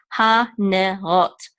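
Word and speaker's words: הנרות: With the tav, we're going to close it all out because the tav does not have its own vowel. We're going to say rot. Ha-ne-rot.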